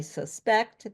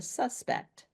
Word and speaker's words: suspect: I suspect they caught the suspect. And say, okay, suspect is the person. So noun it's the first syllable. Okay. So then verb it's the second syll and then you can